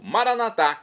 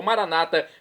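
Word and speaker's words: Maranatha: e agora eu clamo maranat como dizemos nós católicos ou Maranata como dizem nossos irmãos separados os evangélicos ou protestantes não importa pronúncia o significado é o mesmo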